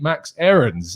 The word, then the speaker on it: Max Aarons: not Max Aarons, but his name is indeed Max Aarons. And that is how it is pronounced according to the man himself.